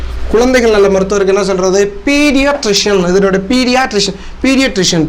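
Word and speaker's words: pediatrician: மருத்துவருக்கு என்ன சொல்றது குழந்தைகள் நல்ல மருத்துவருக்கு என்ன சொல்றது பீடியாட்ரிசியன் இதனுடைய பீடியாட்ரிசியன் பீடியாட்ரிசியன் பி இடி ஐஏ ட்ரிஷன் டிஆர்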